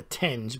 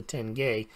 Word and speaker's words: tenge: gold versus the Kazakhstan I call it the tinge but I think it's pronounced a tenge has really gone up